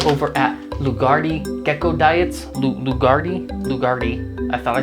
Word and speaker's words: Lugarti: diet the guys over at lugardi gecko diets lugardi lugardi i thought i said it wrong i